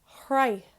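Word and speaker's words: shroich: S plus H is pronounced like h, h. So it's kind of like how you would pronounce a H. So, for example, shrei, which means to arrive. Hrei is with the SÉIMHÍÚ, arrived.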